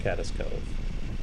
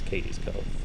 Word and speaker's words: Cades Cove: In the last video, I pronounced it Cades Cove, but someone was nice enough to correct me. Apparently it's Cades Cove.